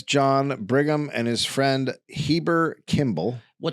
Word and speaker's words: Heber: It's pronounced Heber, rhyming with fiber.